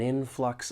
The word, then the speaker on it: influx: When pronouncing this word, there are two syllables. the stress is on that first syllable.